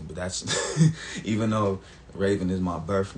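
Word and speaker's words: Ravon: only see me as Raven That's my name my name is Raven uh spelled r a v o n so spelled like Ron but pronounced Raven people only see me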